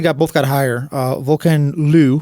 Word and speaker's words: VolcanLoup: Uh Vulcan Lu, which I guess is how you pronounce it now. I always said Vulcan Loop, but uh he is French Canadian.